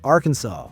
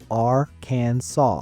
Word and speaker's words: Arkansas: bathtub but they must stay away number 19 Arkansas it is illegal to mispronounce Arkansas and when I say mispronounce I